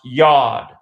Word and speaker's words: Yod: The 4-letter name of God in Hebrew begins with the 10th letter of the Hebrew alphabet, which is pronounced Yod, Y-O-D, not unlike God. Sounds just like God.